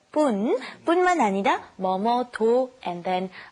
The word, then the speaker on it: 뿐만 아니라: because this 뿐만 아니라, be careful to do the, not 분, but 뿐만 아니라 뭐뭐도, and then how you feel about it.